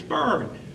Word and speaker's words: Byrne: It's Byrne.